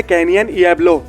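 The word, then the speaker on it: Canyon Diablo: काम किया था, उन्होंने कैनियन इएब्लो, फिर से सुनो कैनियन इएब्लो, यहाँ पर डी साइलेंट है, इसलिए ये मत कहना कि मैंने गलत प्रोनाउंस किया है।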